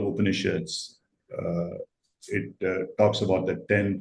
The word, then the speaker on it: Upanishads: I don't know if I'm pronouncing that The properly. Upanishads, yeah.